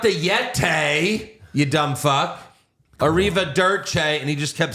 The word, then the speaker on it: Arrivederci: So listen first. Corey Graves says it right. Julia Derci with the Arrivederci for the victory. Arrivederci.